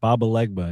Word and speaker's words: Papa Legba: Papa Legba but the real name? More You You You almost had it. Papa Legba. It's like voodoo sort of uh Oh, it's not Papa Legba.